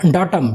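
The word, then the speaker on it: datum: चलिए next question, next है which type of डॉटम, ठीक है, डैटम कहेंगे या तो डॉटम कहेंगे, ठीक है।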